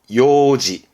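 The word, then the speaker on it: 楊枝: 이건 뭐냐면 발음이 요지.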